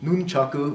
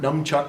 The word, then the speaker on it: nunchaku: handles , the sickles there's the nunchaku right not dumb Chuck sir nunchucks but nunchaku and as we mentioned